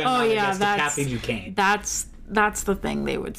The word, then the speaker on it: Duquesne: One of the characters suspected of being Batwoman is Kathy Duquesne, pronounced Duquesne.